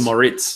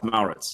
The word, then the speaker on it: Mauritz: I said Moritz. Okay, so Mauritz. Like as though it was Moritz. Oh, I got you. All right. But it's Mauritz.